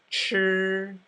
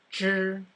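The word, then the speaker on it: 吃: all right so the the CH sound sounds kind of like a J sound but the tongue is curled back further sure the CH sound sounds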